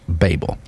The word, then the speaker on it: Babel: we'll call it Babel but if it goes ba BL just like label then it should be pronounced Babel okay the Hebrew word